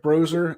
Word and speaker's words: Broser: It's pronounced like a Z, but it's actually S. BROSER. Brozer Built.